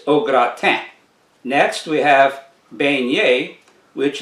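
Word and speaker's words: au gratin: roll the r okra the gra rhymes with bra and the n on the end of t i n is silent so it's not ogratan it's ogratam next we have beignet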